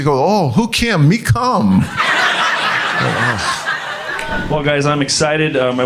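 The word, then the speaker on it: Kum: But also, like she said, it's Kamok, but all the family members call my mom, it's spelled K-U-M, So everybody calls my mom Cum.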